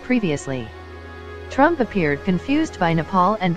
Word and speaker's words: Nepal: of a 2017 meeting with India's Prime Minister mispronounced Nepal as nipple and laughingly referred to Bhutan as button according